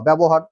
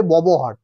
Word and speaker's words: ব্যবহার: বয় জফলা বকার র ব্যবহার মানে একচুি উচ্চারণটা অনেকেই করে ববহার কিন্তু উচ্চারণটা ব্যবহার। ঠিক আছে?